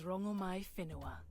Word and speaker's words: Rongomai Whenua: My name is Rongomai Whenua. My Whenua. That's how you're supposed to pronounce it.